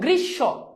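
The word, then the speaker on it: গ্রীষ্ম: শেষে না এখন দেখো গ্রীস উচ্চারণটা কিন্তু না উচ্চারণটা গ্রীস তাহলে খেয়াল করে দেখো তো এই স এর কিন্তু এখানে কোন উচ্চারণ হচ্ছে না তাই না এখানে এটাই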